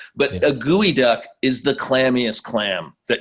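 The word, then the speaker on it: geoduck: heard of it before they think it's a geo duck yeah but the way it's pronounced is is gooey duck which actually is a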